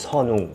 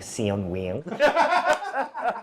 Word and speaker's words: Seon-ung: es “Seon-ung” Cuando enseño mi nombre coreano a amigos estadounidenses les digo: pronuncia “sun” más suave entonces dicen “seon” Vale, bien; ahora di “ung” con la W: “woong~”, así entonces dicen “woong” Luego digo: ahora júntalo